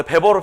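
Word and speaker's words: Weber: 왜냐면이 W를 비읍으로 읽는 쪽이 독일어 쪽이거든. 근데 왜 우리는 외보라고 읽느냐? 사실 존중해 줘야 되잖아. 그 사람 이름은 원래 배버로 한평생 살았으니까.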